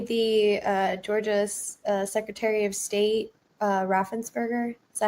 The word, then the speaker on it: Raffensperger: Apparently, the Georgia Secretary of State, Raffensperger, is that how you say his name?